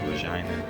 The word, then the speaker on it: Regina: It's spelled like Regina, but it's pronounced Regina.